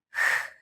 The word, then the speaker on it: Χ: Both of these Greek letters look very similar to the English letters P and X. However, the way you read them in Greek is totally different.